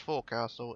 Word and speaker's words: forecastle: Remember kids, forecastle, although it's spelt forecastle, it's pronounced forecastle.